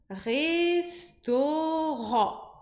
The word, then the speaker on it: restaurant: Então, ao invés de parar no Ró, eu vou colocar um N depois. Aí fica assim, ó. Ron. Pensa no N. Ron. Então, ficaria restaurant. Restaurant. Eu tô fazendo uma sílaba bem alongada para você ver essa passagem pelo O e depois indo para o N.